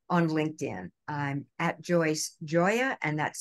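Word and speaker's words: Gioia: out to me on LinkedIn I'm at Joyce Joya and that's spelled g-i-o-i-a and the choice part is not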